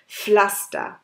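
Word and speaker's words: Pflaster: তবে শোনার সময় খালি আমরা এফ শব্দটাই শুনতে পারি, তার জন্য যখন পি আর এফ একসাথে দেখবেন তখন আপনারা বা এফ হিসাবে এটা প্রোনাউন্স করলে তাহলে আপনাদের প্রোনাউন্সিয়েশনটা ঠিক হবে। এরপরে দুই লেটারগুলো হচ্ছে আই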